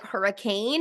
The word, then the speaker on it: Hurricane: That's a city spelled like Hurricane and yet it's pronounced Hurricane.